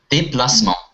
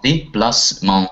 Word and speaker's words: déplacement: Да, déplacement. Déplacement. Там, я так понял, окончание у нас читается on, как бы. Да, носовой у нас on, on, déplacement.